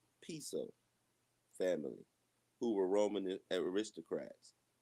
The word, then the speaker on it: Piso: Uh, the New Testament, the Church, and Christianity were all the creation of Calpurnius Piso, pronounced Piso family, who were Roman aristocrats.